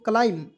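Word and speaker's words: climb: तो इसे पहले दोस्तों क्लाइम देखिए बी को साइलेंट कीजिएगा और सी को आधा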